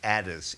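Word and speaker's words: Adès: One thing that I left out, actually, was a new opera by Thomas Addis, A-D-E with an accent S, who's a British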